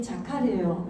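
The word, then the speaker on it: זכר: 자카르타 생각하면 잊어버리지 않겠다. 발음이 어떻게 자카르타 생각하면 안 잊어버리는 게 다 빼고 자카르.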